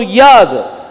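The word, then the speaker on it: יוד: नाउ याद, ये समय में याद को योद करके बोलते हैं।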